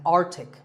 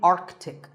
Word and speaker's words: Arctic: Pole of the earth it's mispronounced by many as Arctic but it's actually Arctic the C in the middle is not silent similarly aunt Arctic and